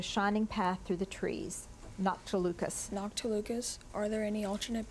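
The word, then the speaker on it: noctilucous: Noctilucas.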